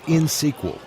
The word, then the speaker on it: InSQL: Harry, it's InSQL, INXSQL. You don't pronounce the X.